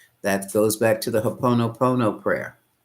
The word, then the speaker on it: Ho'oponopono: That goes back to the Ho'oponopono prayer. It's spelled hop, oh no, hop, oh no, oh no.